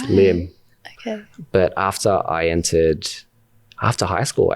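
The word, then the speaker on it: Liem: And my name is not technically pronounced Liam. It's Lim.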